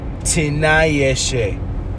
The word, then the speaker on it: Tinayeshe: Y'all got PHs that sound like Fs and silent letters and all this jazz. Tinayeshe.